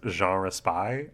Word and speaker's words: Jean Raspail: I'm gonna just announce for our listeners that I do know that this guy's name is pronounced Jean Raspail.